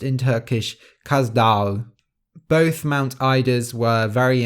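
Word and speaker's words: Kaz Dağı: course is the one in the story is pronounced in turkish kazdal both mount ida's were very important in mythology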